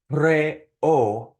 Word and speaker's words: preocupes: Some people have a hard time pronouncing this word because the E and the O in preocupes are both strong vowels. And so they separate into two distinct syllables, okay?